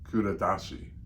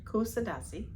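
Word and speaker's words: Kuşadası: Can you say Can you pronounce it? Uh, Cuda. Oh, Turkey. Curadashi. Close. C. Yeah, something like that. Kusadasi. Kusadashi. Kusadasi.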